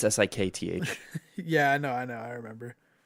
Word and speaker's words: Sikth: I thought you were just pronouncing Sixth really weird. No, it's Sikth.